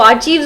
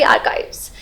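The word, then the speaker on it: archives: एंड I know कि इसके pronunciation में भी बहुत बार आपको प्रॉब्लम आती होगी कि इसको आर्चीव्स बोलते हैं, आर्कीव्स बोलते हैं, आर्काइव्स बोलते हैं। तो इसको बोलते हैं बेसिकली आर्काइव्स।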